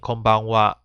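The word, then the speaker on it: こんばんは: so in konichiwa and konbanwa is even though it's using the ha hiragana it is pronounced as wah and this is only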